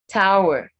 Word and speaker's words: tower: Tower. Tower. So it's hour, not tour.